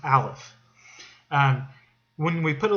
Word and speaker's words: aleph: this uh this letter is the hebrew letter aleph it's the first letter in the hebrew alphabet alphabet it's it's it's pronounced alef um when we put a little zero on